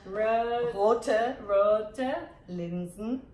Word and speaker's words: Rote Linsensuppe: Es ist Rote LinsenSuppe. It's a red lentil soup. That's what she said, right? Yes. Maybe you can teach me how to say it. Rote LinsenSuppe.